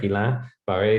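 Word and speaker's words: Guillain-Barré: the cns cousin to guillain-barre sorry gila barre syndrome it's hard to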